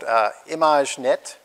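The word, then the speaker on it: Imagenette: So the first data set is called ImageNet, which is very French, as you can hear.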